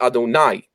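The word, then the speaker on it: אֲדֹנָי: the patach would be Adonai. I'm saying with a patach, so I don't say the holy name. And God's name is basically that name. We pronounce it as though it's the plural, my masters, and we change the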